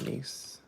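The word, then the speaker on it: gneiss: know it's nice but we're saying nice because it's spelled Gian e-i-s-s e-i-i-e-e-i-e-i-e-i-o for you oh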